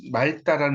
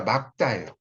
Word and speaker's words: 맑다: 자, 그 다음에 이제 7번 막다, 이것도 오늘 날씨가 막다 이렇게 많이 쓰는 맑다라는 말로 쓰는 경우가 있어요. 맑다 이게 아니라 날씨가 막다예요.